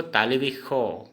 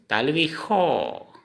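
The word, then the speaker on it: তালব্য শ: और तलब स जिसको हम असमिया में बोलेंगे तालवी खो। तालवी शो होता है, लेकिन हम उच्चारण करेंगे हम असमिया में तालवी खो। खो, हमेशा स का उच्चारण खो खो होता है असमिया में बोलते टाइम में, लेकिन लिखते टाइम में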